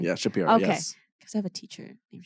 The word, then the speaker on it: Schapiro: Yeah, Schapiro.